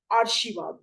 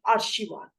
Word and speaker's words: आशीर्वाद: पर लिखा गया है ये आशीर्वाद नहीं है यह है आशीर्वाद इसका उच्चारण है आशीर्वाद सही शब्द क्या है